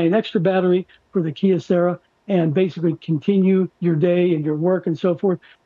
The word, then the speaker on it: Kyocera: Leslie, it's called Kyocera, and it is a DuraForce.